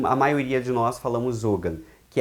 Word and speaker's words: Ogham: O Ogham, né, que pode ser pronunciado como Ogham, Ohan ou abrasileiradamente Ogham. Né? Ogham, a pronúncia correta de acordo com o gaélico, quando tem GH, que é a grafia que eu particularmente uso. E quando ele é só G, seria Ohan, né?